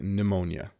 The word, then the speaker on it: pneumonia: pneumonia another word where the p is silent you don't pronounce the P at the beginning it's simply pneumonia um I had pneumonia